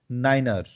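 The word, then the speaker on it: niner: 9 को 9 नहीं पढ़ना है, क्या पढ़ना है? नाइनर।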